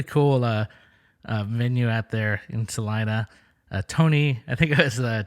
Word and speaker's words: Salina: Salina, I wasn't sure how to say it. I kept saying Selena, but I didn't ever say it in front of anyone. I kind of waited till someone said, "Oh yeah, Salina."